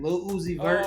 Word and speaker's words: Lil Uzi Vert: That's how you say it, Lil Uzi Vert.